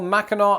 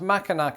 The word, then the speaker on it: Mackinac: Like for example, Mackinac Island, which is not pronounced Mackinac Island.